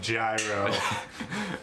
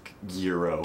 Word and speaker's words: gyro: then theen like and now we're just saying gyro uh this is a joke I know it's pronounced guo guo G so what's